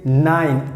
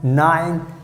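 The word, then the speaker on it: nein: so you can say 9 and e i n that means no and how you have to pronounce like 9 9 9 so sounds funny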